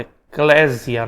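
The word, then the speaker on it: ἐκκλησία: Cuidado que não tem som de Z, tá? Então não diga eclesia, eclesia. Só fala eclésia, né? Eclesia. Então tem som de S e não de Z.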